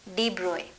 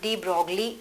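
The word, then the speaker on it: de Broglie: कौन थे साइंटिस्ट वो, उनका नाम था डी ब्रोए। डी ब्रोय नाम के साइंटिस्ट, डी ब्रोगली जिसका स्पेलिंग है, तो डी ब्रोगली नाम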